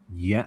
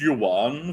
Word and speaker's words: yuan: Um 1,100 yen. Is that yen? Chinese money during It's pronounced It's pronounced yuan Phil. Is it? I never heard that. No, that's not yen.